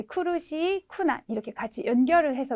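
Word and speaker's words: 苦: 뭐 발음이 상관 있는 건 아니지만 네, 쿠르시, 쿠난 이렇게 같이 연결을 해서 외워두시면 나중에 헷갈리는 일이 조금 덜 생길 것 같은 생각도 듭니다. 그래서 코나 코가 아니라 기본 발음이 쿠예요. 쿠.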